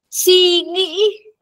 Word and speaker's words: suy nghĩ: Suy nghĩ. Sungi? Oui. Sungi?